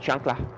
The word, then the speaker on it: chancla: It's actually pronounced chancla.